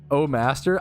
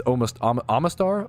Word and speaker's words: Omastar: Oh Master. I used to fucking call it Oh Master growing up, but it's Omastar.